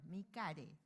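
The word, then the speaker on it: MICARE: Nosotros lo pronunciamos en español, mi care. Tal cual. Sí, porque nuestro instituto es chileno, entonces lo pronunciamos tal cual como lo escribimos.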